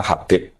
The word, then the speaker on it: Habib: Itu di harakatnya kitab itu ada yang nulis khubaib. L yang benar. Oh, nggih. Yang benar itu bacanya Habib.